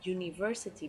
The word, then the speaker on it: university: but you say a university because the you in the beginning of the university sounds like you so with Y but